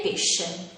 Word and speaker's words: pesce: Quando queste due lettere sono seguite dalle vocali e i, si pronunciano come sci e sce. Quindi avrà un suono dolce, come nelle parole sciatore, scena e pesce. Quando invece sono seguite dalle